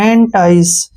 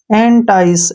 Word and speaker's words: entice: से हो गया से, ई का उच्चारण हम नहीं करेंगे। एंटाइस, क्या पढ़ेंगे? एंटाइस, एंटाइस में क्या होता है?